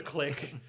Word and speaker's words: Clique: rubbed off of me even though I know that that's pronounced the click it's so there's going